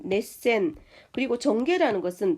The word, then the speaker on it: 熱戦: 열전이라는 것은 넷센 그리고 전개라는 것은 텐카이라고 읽죠.